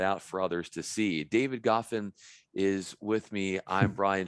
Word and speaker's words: David Goffin: David Goffin is how you pronounce the tennis player's name, but it's spelled the same way.